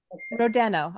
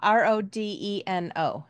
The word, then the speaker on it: Rodeno: Yep, by Michaela Rodeno, R-O-D-E-N-O. Did I say it correct? Rodeno, actually. Rodeno.